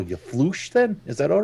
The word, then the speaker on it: Floosh: It is Floosh, the sound of fire. It's Floosh, the sound of fire. Floosh. Yeah, welling up. I suppose everyone else could just then call you Floosh then.